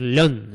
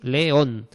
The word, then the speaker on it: león: Y claro, no podemos decir león, león, no, hay que separarlo. Son dos sílabas, una y dos, león.